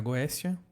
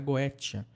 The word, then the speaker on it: Goetia: Você pode pronunciar Goécia ou você pode pronunciar Goétia. Eu tenho o costume de pronunciar Goécia mesmo.